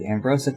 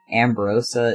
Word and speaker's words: Ambrosia: Clan honoring their observance I always forget that I've been technically saying the Clan's name wrong this entire time CU it's not really ambrosa it's like Ambrosia I think is how it's supposed to be said so let's see Finch